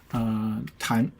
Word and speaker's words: 弹: And then this character has another pronunciation called 弹. Hold on, wait a minute. Let me go back. Called 弹.